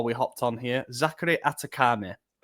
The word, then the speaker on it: Athekame: Zachary Atakame.